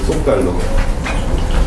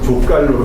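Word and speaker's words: Zócalo: 그래서 그거를 영어식으로 족갈로로 발음하거든요. 사실 이렇게 이름이 뭐 족갈로? 그래서 굉장히 뭐를 깔아간다고 해가지고 비웃는데 웃어요. 족갈로라고. 근데 발음이 족갈로가 아니에요. 소칼로예요.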